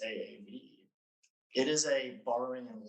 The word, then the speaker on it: Aave: okay so we will look at uh overs pronounced aave it is a borrowing and lending market so